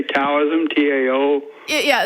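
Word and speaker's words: Taoism: perceive it sounds like T did you say taism tao yeah yeah it's pronounced taism but it it does yeah t yeah so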